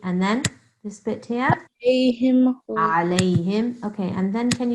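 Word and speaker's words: عليهم: Okay, and again here, the ayn of alayhim. Alayhim. I think you said anamta alayhim. This is wrong. Okay. When we must pronounce the ayn, and also how do you pronounce this part?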